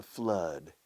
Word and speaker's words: flood: The flood, F-L-O, como blood, sangre, pero con F, flood. Se pronuncia igual.